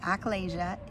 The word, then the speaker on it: achalasia: So, acalasia is a swallowing issue and and and I'll